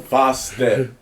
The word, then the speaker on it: Fostep: F-O makes the fo. Step makes the step. Co makes the co. Fostep.